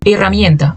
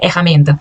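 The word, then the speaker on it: herramienta: Erramienta. Ó, esqueci de pintar o ezinho aqui, mas o também é fechado. Não é erramenta, não é ra, certo? Não é erramenta. Você disse erramenta.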